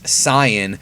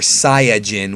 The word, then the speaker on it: Saiyan: know that by now the correct way to pronounce saying is Sian or SIA Jin which is a pun on yasai which means vegetable and I'm saying that